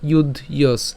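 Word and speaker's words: যুধ্যস্ব: এগুলো যদিও ভেঙেছি কিন্তু উচ্চারণ করার সময় একসাথে উচ্চারণ করবেন তসমাদ ইউয়স ঠিক আছে তসমাদ ইউস এরপরে এখানে কি আছে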